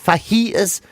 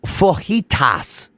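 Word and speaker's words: fajitas: you know the way obviously the way I said faitas is definitely not how you say it but that's what's wrong with FAS no it's fitas or like yeah here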